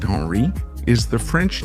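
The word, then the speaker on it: Henri: Henry pronounced Henry is the French name derived from the Germanic himri which means ruler of the house.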